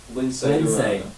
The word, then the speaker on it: Lince: Lince. There's no accent on it. It's spelled like Lance with an I.